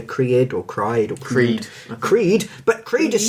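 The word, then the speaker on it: Criid: Creed, but Creed is spelt with E's, not EASE, because her name is actually difficult to spell.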